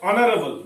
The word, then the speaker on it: honorable: Because honorable, though it starts with H, but its pronunciation it starts with O, means a vowel, and with a vowel